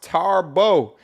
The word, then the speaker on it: Thabo: Shout out to Thabo. Pronounced Tarbo.